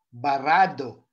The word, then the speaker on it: barado: Pansin niyo po, do. Mayroon po bang impit na tunog? Wala po itong impit na tunog, pero ang pagbigkas po niya ay mabilis. Tama po. Barado. Mabilis pero walang impit na tunog.